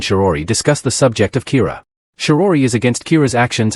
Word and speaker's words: Kira: person behind this and calls him Kira, which is the Japanese pronunciation of the word killer.